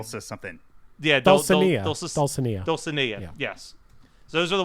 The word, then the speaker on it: Dulcinea: Dulcinea, yes.